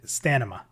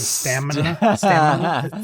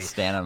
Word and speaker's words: stamina: So growing up, I always said stamina instead of stamina. See, I even have a hard time saying it correctly. Stamina.